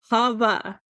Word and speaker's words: Hava: and every time I'm just like, it's Hava, Hava, Hava. Is that how they pronounce princess here?